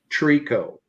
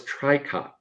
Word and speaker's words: tricot: It's the difference of, I think my first illustration with that from an apparel standpoint was Trico. Trico. I thought it was Tricot.